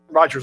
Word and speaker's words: Rogers: Frank Rogan, did I pronounce that correctly? Rogers, I'm sorry.